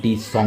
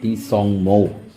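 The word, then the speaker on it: Tsongmo: লেকটির নাম কেউ কেউ বলে সাঙ্গু লেক। কেউ কেউ বলে টি সং লেক বানানটা টি এস ও এন জি এম ও টি সং লেক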